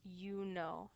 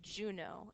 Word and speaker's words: Juno: When we're speaking in Latin, we pronounce this Juno and we pronounce this Jupiter. But when we're saying their names in English, we say Juno and we say Jupiter with that J sound.